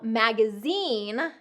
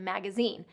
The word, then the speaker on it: magazine: But it is an exception because of its French influence. So magazine comes from a French word, and so we've incorporated this French pronunciation into the pronunciation of magazine.